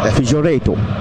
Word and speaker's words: Figueiredo: Oui, je pense que je vais prononcer avec l'accent Figueiredo.